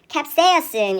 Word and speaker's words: capsaicin: 자, 우리가 캡사이신이라고 부르는 이 아이가 발음이요. capsaicin 이렇게 됩니다.